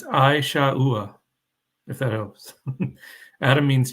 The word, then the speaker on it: Esau: all right awesome Pam put uh how to pronounce Esau it's it's a shaa if that helps Adam means Chief or First